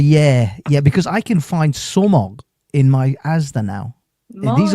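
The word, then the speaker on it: sumac: International, yeah, because I can find somog in my Asda now.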